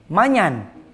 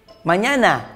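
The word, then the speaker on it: mañana: Bagaimana cara kamu membacanya? Manyan. Mana manyan? Dengan baik. Manyana.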